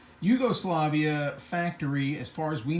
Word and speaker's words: Jugoslavia: another way to write the word Yugoslavia just pronounce the J like a whi Yugoslavia Yugoslavia factory as far as we know and according